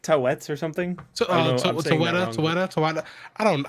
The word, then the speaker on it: Taweret: It's like Tawets or something. Taweta. I don't know. Listen. I'm black. I'm not. Taweret. There we go. Something like that. Hey, I'm gonna look up the pronunciation so I can say it better.